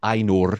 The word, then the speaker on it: Ainur: They're called the Ainur. Just roll your R's, Mary.